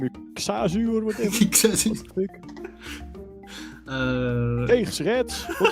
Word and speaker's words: Xazu: So Kazu or Kazu. Oh, so that's Dutch as well. The X is like a KS instead of a Z sound.